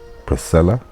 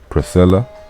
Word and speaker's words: Priscilla: them spelling but therefore pronunciation in latin and english and english is priscilla and latin is priscilla priscilla the sea and the c on wolf got a different sound one got the s sound english and the latin